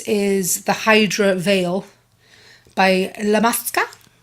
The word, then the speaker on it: Illamasqua: So moving on to the next product, this is the Hydra Veil by Illamasqua. I believe that's how you say it. I remember how to say it by thinking of a llama.